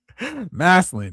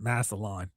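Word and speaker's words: Massillon: Masseline. It's okay. Ohioans sometimes have trouble with it and pronounce it massalon.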